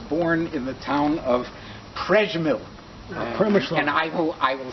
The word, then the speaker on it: Przemyśl: Moshe Ziffer was born on April 24, 1902 in Przemyśl, Galicia.